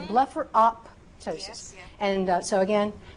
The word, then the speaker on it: blepharoptosis: You wouldn't say optician, as in for optician. You wouldn't say otician. You'd say optician. So it's the same thing. So blepharoptosis. And so again, blepharoptosis, blepharoptosis, blepharoptosis.